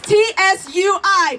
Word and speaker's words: Tsui: That's T-S-U-I, pronounced Tsui.